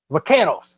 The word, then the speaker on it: Vaqueros: And my upset special is the San Antonio Vaqueros.